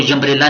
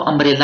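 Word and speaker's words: umbrella: जैसे अम्ब्रेला को यम्ब्रेला नहीं पढ़ना या उम्ब्रेला नहीं पढ़ना, अम्ब्रेला को अम्ब्रेला ही पढ़ना है, ठीक है।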